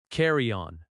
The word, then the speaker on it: carry-on: Carry-on. Carry-on. The stress is on the first word.